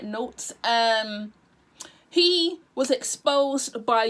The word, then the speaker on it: Not3s: called notes i believe he pronounced his name like notes um he was exposed